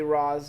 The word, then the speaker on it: Ra's: Ghul or Raish, but I'm gonna say Ra's, and if I'm wrong, no, if you pronounce it Raish, you're wrong.